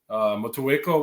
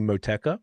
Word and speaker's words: Motueka: And I was saying Moteka because I just didn't think you had to. And he said it's Motueka. Like not Motueka.